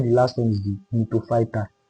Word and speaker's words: Gnetophyta: While the last one is the gnetophyta. The G is silent. That's why we call it gnetophyta.